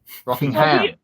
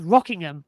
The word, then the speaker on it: Rockingham: That's only because we've had Rockingham for years in the touring cars, pronounced as Rockingham. So Rockingham, it's quite hard to put the twang on it.